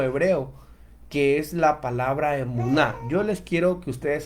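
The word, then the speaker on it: אמונה: que es la palabra emunar yo les quiero que ustedes esta palabra la noten la guarden y es una palabra que se pronuncia emuná es la palabra que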